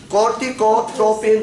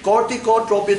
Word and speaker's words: corticotropin: It's cortico. Cortico. Because you missed some syllables, and that makes me very inaccurate. Corticotropin releasing hormone. Okay? Corticotropin releasing hormone.